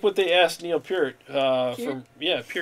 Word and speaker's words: Neil Peart: like what they asked neil peart uh from yeah that's actually how you say his name neil peart that's um from